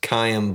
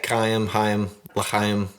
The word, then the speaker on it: Chaim: Chaim, there we go. I got it. I think the C is silent.